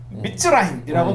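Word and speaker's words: מצרים: 이집트라고 하는 단어를 미츠라임이라고 발음한다는 거예요. 히브리어로 미츠라임이라고 발음하거든요.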